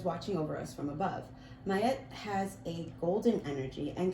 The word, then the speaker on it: Ma'at: Ma'at, pronounced Mayet, is an ancient Egyptian deity associated with truth, harmony, and balance.